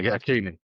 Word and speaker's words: Hakimi: back, and the guy at PSG, I can't pronounce his name. Hakimi? Yeah, Hakimi.